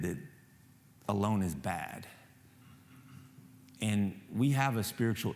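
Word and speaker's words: בַּד: first mention of anything bad has to do with a human being being alone um the Hebrew word for alone is actually pronounced bad like it's bad alone and it's bad because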